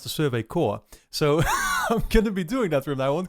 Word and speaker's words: Survey Corps: uh and i still keep calling it the survey corpse even though i've actually been told that it's supposed to pronounce the survey core so i'm gonna be doing that from that